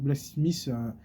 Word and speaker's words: Blksmiith: Donc Blacksmith, ça s'écrit BLKSM2ITH.